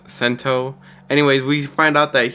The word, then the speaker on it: Sento: we find out that sato the one who's the kamen rider in this series saves a fugitive actually i was wrong it's pronounced sento anyways we find out